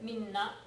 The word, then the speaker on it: みんな: all みんな all みんな careful on your pronunciation みんな is all 皆さん without the extra n is the polite form but みんな and みな should not sound the same みんな and 皆さん are